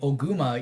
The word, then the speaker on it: Ogma: But there's a Fire Emblem character named Ogma, and his Japanese katakana name is Oguma. All right. So in the English dub, they say Oguma, even though every game in English like spells Ogma.